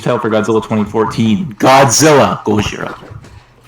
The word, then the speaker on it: Gojira: No, it's just the movie is just the movie's title is spelled that way, but it's just Gojira.